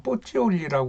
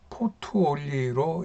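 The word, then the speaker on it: Pozzuoli: 이 보디올이라고 하는 데는 지금은 이태리 말로는 뽀찌올리라고 그러는 것 같던데 그 영어를 쓰는 사람들은 포투올리로 이렇게 발음을 하고 있더라고요.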